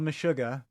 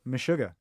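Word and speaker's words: Meshuggah: It's a band called Mishuga.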